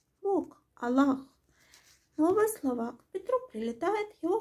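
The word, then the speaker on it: الله: После сдвоенного «ли», которое произносится твердо, здесь идет долгий гласный «а», который на письме не обозначается. Аллах, Бог, Аллах.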